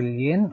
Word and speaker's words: lien: Okay, the possessory lien or the lien that is pronounced as lien, class, not lien.